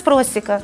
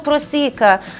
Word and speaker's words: просіка: звичайно наприклад я ніколині я не використовувала наголос у слові просіка саме просіка я говорила весь час просіка а виявляється весь час був просіка стало легше чоловіку коли